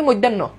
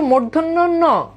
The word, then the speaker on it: মূর্ধন্য: এটাতে কোন ডাউট আছে মূর্ধন্য আর দেখেন আমরা উচ্চারণ আমরা এগুলো বলি মধ্যান্য কেউ কেউ বলে মধ্য কেউ বলে মূর্ধন্য না এটার উচ্চারণ হচ্ছে মূর্ধন্য আর এইটার উচ্চারণ কি এটার উচ্চারণ হচ্ছে মূর্ধন্য